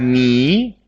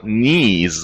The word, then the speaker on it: knee: and uh we have knee knee what is knee this is also part of your body me but K is silent yes that's right thank you Rambo knees okay knee very good